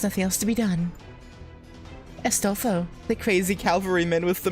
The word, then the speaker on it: Astolfo: I guess because his name is pronounced like Astolfo, like ass. So instead of ass, it's bestest.